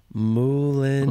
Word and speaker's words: Moulin: I think we have to watch Moulin Rouge.